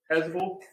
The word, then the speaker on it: chasuble: Starts with a C, rhymes with chasuble.